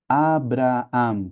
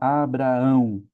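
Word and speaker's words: Ἀβραάμ: Alfa, beta, ro, alfa, alfa, mi, Abraam. Que a gente fala Abraão, mas ali no grego é Abraam.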